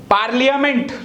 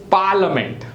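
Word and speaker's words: parliament: आई में business look at द आई is silent we write business but the pronunciation is business पार्लियामेंट लखि आपे पार्लियामेंट बट इट इज पार्लिमेंट पार्लिमेंट next is H again from here it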